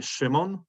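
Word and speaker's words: Szymon: family would call me shimon uh is kind of like an sh i guess two different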